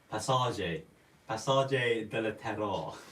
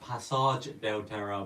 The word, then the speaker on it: Passage del Terra: And our friend Lee Searle pronounced Passage del Terra, Passage del Terror. It's actually a clown. So yeah, it is pronounced Passage del Terra, but Lee likes to say Passage.